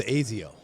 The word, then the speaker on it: Asaio: And then also an integration with the Asaio platform as well. It pronounced Azio.